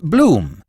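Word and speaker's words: Bluffinghame: "To rhyme," said Archie helpfully, "with Bloom, spelt B-L-U-F-F-I-N-G-H-A-M-E, don't you know?"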